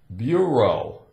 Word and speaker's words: bureau: not what's the sound could it be oh kind of a long o sound it's about it we have e Au Bureau a bureau now a